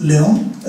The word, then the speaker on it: Leung: This is a Cantonese pronunciation. This is because we're in Hong Kong. Sisters are in Guangdong Canton at that time. So we use the dialect of Cantonese. So the pronunciation is Leong. Leong is Cantonese.